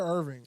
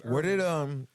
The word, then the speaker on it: Irving: It's Irving. Or was it Arlington? It's Irving, isn't it? It's 100% Irvine. It's not Irvine. It's not spelled like Irvine. It's spelled IRVING.